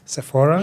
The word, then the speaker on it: Sephora: And like say Sephora, or how do you pronounce it? Sephora.